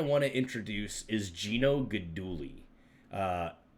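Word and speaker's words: Guidugli: first one I want to introduce is Gino goduli uh it's spelled g-u-i-d-u-g-l-i but apparently it's pronounced goduli um great guy from from uh he's from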